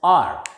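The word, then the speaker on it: hour: a verbal sound next h o u r s is silent here and it is pronounced as r one r and we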